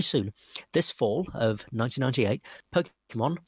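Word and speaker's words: Pokémon: This fall of 1998, Pokemon, pronounced Po-ke-mon, for Game Boy and Pokemon TV series will be reaching North America.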